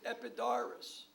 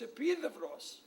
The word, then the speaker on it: Epidaurus: in the world, and he pronounced it Epidaurus. And I couldn't wait for class to end to tell him it's Epidavros. And that's why we're here.